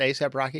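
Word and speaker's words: A$AP Rocky: is is it ASAP Rocky that's how you pronounce that ASAP Rocky it's not probably it's not as soon as possible Rocky no yeah I was kidding but no it's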